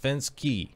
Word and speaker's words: Fenske: Jean Fenske is a mystery to everyone, but her last name is pronounced Fenske, not the way I was saying it before.